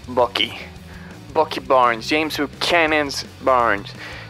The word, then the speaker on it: Bucky: Vemos también la introducción de Sebastian Stan como el Bucky, que es una broma local, pero bueno, la pronunciación correcta es Bucky.